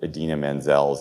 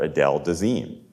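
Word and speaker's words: Idina Menzel: we did just after john travolta butchered edina manziel's name at the oscars he was introducing her and he called her adele dazeem when he introduced her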